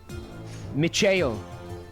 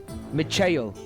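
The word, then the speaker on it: Michael: That's like if I went around saying my name was pronounced macheo. Hi, I'm Micheo. night. Nice to meet you. But that name's not pronounced like that.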